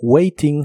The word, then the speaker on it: waiting: what y waiting for la t de Waiting se puede pronunciar como r What Waiting For what